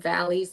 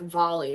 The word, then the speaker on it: Valli: you know who Frankie Valley is Katie y okay that's the only reason I was able to pronounce his name I probably would have said like volley or some stupid [ __